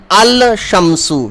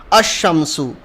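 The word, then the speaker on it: الشمس: are known ASU shami so we will not pronounce the L we will directly pronounce these word with alif and the remainings arear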